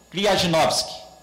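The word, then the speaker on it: Kryzhanovsky: Kryajinovsky. Kryajinovsky. Pronto, então está refeita aí a pronúncia.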